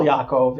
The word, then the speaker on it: Yaakov: in the English version so Yaakov becomes Jacob japhet becomes Japheth right Yoel becomes Joel right yob becomes job right um lots and lots of J's which really are wise okay so last verse